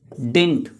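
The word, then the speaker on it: didn't: डिड नॉट का short form डिडंट नहीं होता है, डिड नॉट का शॉर्ट फॉर्म होता है डिंट, उसमें डी सेकेंड जो डी होता है ना वो साइलेंट होता है, डिडंट नहीं, इट्स डिंट।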